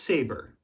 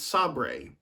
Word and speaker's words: SABRE: saber security Equipment Incorporated now that's pronounced saber not Sabre if you know you